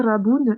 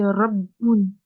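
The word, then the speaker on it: رَبٌّ: En fait, c'est comme, tu dis pas raboun, tu dis rabboun, rabboun.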